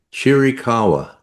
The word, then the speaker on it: Chiricahua: So So it's C H I R I C A H U A Chirikawa.